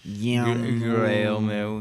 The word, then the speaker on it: Guillermo: Yeah, Guillermo. You need more emphasis. Guillermo.